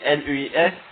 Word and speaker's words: Luis: Oui, parce que Louis, L-U-I-S, ça se prononce Luis, c'est de l'espagnol, je crois.